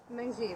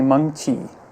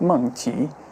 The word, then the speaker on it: Meng Chi: Mengji, that's how you pronounce her name. It's actually Meng Chi, and it has tone to it. It's Meng Chi.